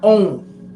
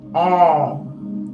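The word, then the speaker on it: Aum: okay now it's not own like people say own own none it's not um it is pronounced a-u-m more like all all okay so when you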